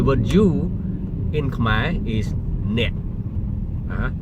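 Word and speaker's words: អ្នក: The word you in Khmer is net. Net. N-E-K. That is my phonetic. Okay, N-E-K. My phonetic. N-E-K. Net. And the K is silence in this language.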